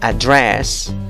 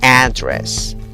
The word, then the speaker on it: address: Puedes decir address o si no, address. ¿Notas la diferencia en la vocal de la primera sílaba? En la primera opción, la vocal es address. En la segunda opción, la vocal es una A que se ríe, para la